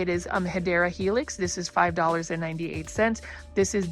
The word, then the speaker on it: Hedera helix: And then you can see right over here, we've got a Hedera Helix, or the correct way to say it is Hedera Helix.